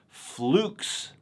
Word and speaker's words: Fleux: how to pronounce it Edward the brand owner pronounces it as flukes but I'm Scottish so